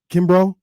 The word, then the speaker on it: Kimbrough: again I don't want to mess it up Kimbrough Kimbra that's what I thought it was um